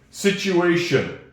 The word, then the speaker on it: situation: Strange thing English cuz I don't hear a T there at all. Situation. I don't hear a T at all. It's almost like a silent t situation.